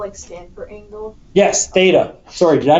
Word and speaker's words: Theta: like that Theta um the actual Greek spelling is that's a Theta that's an ADA this is T and that's Alpha looks like thata there you go or